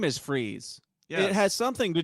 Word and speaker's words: Freeze: His name is Freeze, not Frice. But my kids like the one And with there's a Kurt reason Russell. why his name is Freeze.